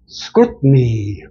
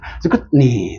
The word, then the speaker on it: scrutiny: 근데 실제 네이티브는 어떻게 하죠? scrutiny. T 발음 안 합니다. scrutiny.